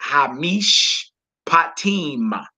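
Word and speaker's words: הַמִּשְׁפָּטִים: You would pronounce that hamish patim. Hamish patim.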